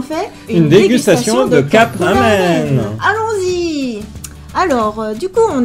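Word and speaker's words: ラーメン: Cup ramen. D'ailleurs, prononciation japonaise, normalement c'est ramen. On allonge le A.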